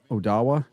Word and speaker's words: Odawa: Ottawa? Odawa. Is that how they say it? Odawa? Yeah, it's Odawa. It's a native I thought it was Ottawa, like the Ottawa No, it's Odawa and Kewadin and Bay